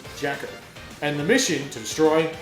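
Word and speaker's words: JAKQ: They're given the code name Jacka Gengeki Thai or J A KQ pronounced Jacker and the mission to destroy crime.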